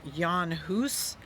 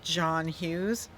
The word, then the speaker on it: Jan Hus: going to talk about his name is spelled j-a-n-h-u-s people pronounce his name john hoos others pronounce it john hughes but however you pronounce